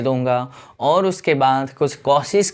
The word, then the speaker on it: Cauchy: ठीक है, तो पहली थ्योरम है कॉशीस। स्पेलिंग क्या होता है? कॉची नहीं लिखना है, ठीक है, CAU, कॉशीस थ्योरम।